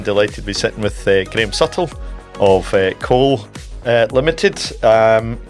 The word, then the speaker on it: Graham Suttle: Uh today I'm delighted to be sitting with Graeme Suttle of Cole uh Limited.